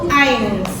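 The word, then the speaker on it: eins: ains ains ains Iya jadi ingat-ingat e i kalau dalam bahasa Jerman dia dibacanya Ai ya jadi diftongnya itu seperti itu dalam bahasa Jerman ei I dia dibaca Ai jadi Ain kemudian suai ingat-ingat Z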